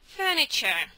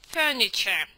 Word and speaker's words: furniture: Это видите, оно пишется фурнитуре. Но это не фурнитура, это мебель, да? Это мебель. Поповряем. Fure furniture. Да. Фрничер, да, как бы ничейная она. Это ф, да, вот это ф нечейное оно.